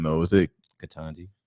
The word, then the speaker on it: Ketanji: I always say her name wrong though. Is it Ketanji? Ketanji.